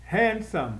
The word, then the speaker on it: handsome: Tem 2 sílabas, mas a sílaba tônica é a primeira. Handsome. Que eu mordo 2 vezes, tá? Ela parece que tem mais sílabas, mas quando você coloca o dedo entre os dentes e fala a palavra, você morde só 2 vezes. Handsome. Então tem só 2 sílabas.